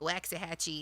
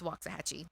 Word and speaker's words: Waxahachie: pronounce certain things because he was saying like waxy hatchy and i'm like we don't say waxahachie it's waxahachie okay so um yeah get